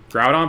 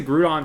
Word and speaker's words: Groudon: beach run the disrespect groudon but i pronounced like crouton grudon i i pronounced it groot on for a little bit as a kid yeah i used to